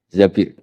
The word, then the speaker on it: Zabir: Di hadis ini bukan bacanya bukan Zubair, tapi Zabir.